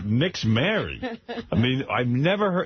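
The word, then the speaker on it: Nixzmary: they named the kid Nixmary. N-I-X-Z. Nixmary. Is that true? Yeah. Is that how you say it? Nixmary? Yeah.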